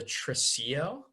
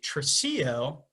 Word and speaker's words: tresillo: talk a little music theory, that's called the tresillo. It's spelled Tresillo.